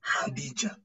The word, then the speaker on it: Khadija: The letter KH now, we tend to give less stress in the letter K. But give more stress in the letter H in the pronunciation.